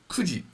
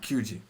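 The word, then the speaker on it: 九時: o'clock never nana and nine o'clock is kuji not kyuji and 10 o'clock is juji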